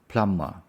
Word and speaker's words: plumber: the now pmer pmer the B is silence so we don't say the b pmer Plummer that's the plumber the stress is on the first one Plum plumber plumber is